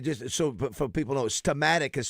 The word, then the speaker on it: Steamatic: Yeah, I was going to say, just so for people know, Stematic is spelled Stematic. S-T-E-A. Stematic. Stematic. Yeah, Stematic. It's not S-T-E-M, is it? Yeah, it's It's like steam and then attic.